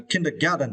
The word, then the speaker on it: kindergarten: and furtherness was a kindergarten right yeah and for this was you need to strength the first syllable kin uh Kim uh kindergarten yeah